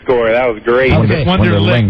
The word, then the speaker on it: Wonderlic: Wonderlic, not Wonderlink. It's Wonderlic.